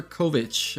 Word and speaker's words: Covic: His name is Covic or Kovic? How do you say your last name? Covic.